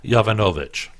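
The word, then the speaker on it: Yovanovitch: Clinton her name is Marie yo Vanna Novick had to sounded out multiple syllables that sounded out so it's Marie Jovanovic and if you look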